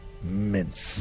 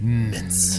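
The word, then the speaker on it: Mintz: Rabbit yes to Charles mince Min you got to say it like that mince mince with a little up upturned that's right and not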